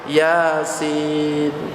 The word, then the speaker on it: Yasin: ya asin tulisannya gitu Padahal bacanya Yasin banyak juga yang salah ketika membaca Yasin coba saya Pengin dengar